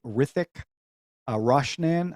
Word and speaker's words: Hrithik Roshan: to pronounce this so I think the H is silent Ric a rashan I hope I'm saying that right he plays Mr a